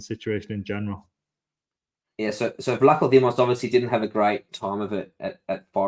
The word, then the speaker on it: Vlachodimos: How do you pronounce that? Vlachodimos.